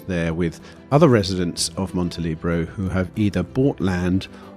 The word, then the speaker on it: Montelibero: my first question is do you do you say Monty libero or Monty Libro because Libro I've heard it said it's it's spelled Monte libero right how do you say it montelibro multilibro okay right because I was saying montelebro without the e but it kind of